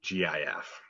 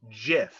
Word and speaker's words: GIF: say they are wrong it is a soft g pronounced gif end of story end